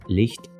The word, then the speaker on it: licht: to mention is that Licht is how they pronounce light, which is also how the Germans say light, which begs the question, are the residents of Arbroath secret Germans?